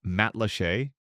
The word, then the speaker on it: Matlacha: Matlacha, pronounced Matlachey, is a tiny fishing